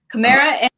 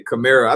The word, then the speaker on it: Kamara: forth in the booth your name is pronounced two totally different ways camara Maura so I say I say camara I think I'll tell everybody's like it's just how the egg comes off your tongue I say some